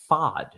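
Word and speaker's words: Pfaadt: PFA a DT as fod rhyming with odd or God um but I think I just I still prefer P fat P fat so I'm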